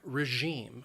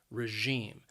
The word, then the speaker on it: regime: a system of government the word has two syllables and the stress is on that second syllable regime and that that second syllable notice it has that long e sound regime regime and then